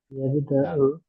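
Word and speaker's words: يبدأ: yabda'u yabda'u Yabda'u. nah, yabda'u ya sebenarnya bacanya, jangan kol-kolah itu.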